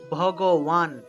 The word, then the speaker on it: ভগবান: আমরা তো শ্রী ভগবান বলে ফেলি, এটা শ্রী ভগবান হবে না, উচ্চারণ হবে শ্রী, তাল অবশ্য শ্রী ভগবান উওয়াচ, শ্রী ভগবান, কেমন?